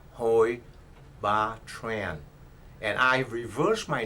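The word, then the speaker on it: Hoi Ba Tran: n as in Nancy it is pronounced ho B Tran and I revers my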